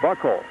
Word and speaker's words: Buchholz: Well, I asked Coach Dale Parr, how do you pronounce it? Buchholz or Buckholz? And he said Buckholz.